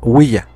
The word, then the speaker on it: Ouija: de ouija se deriva del francés oui que es Sí y del alemán Ja Que también significa así y que se pronuncia willa ouija finalmente la patente